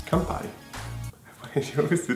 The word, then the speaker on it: Campari: It's Campari. Campari. It's Campari.